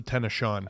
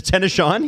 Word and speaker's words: Tennessean: last name sorry Alex well it's actually pronounced the tenan uh the tennan yeah is that what it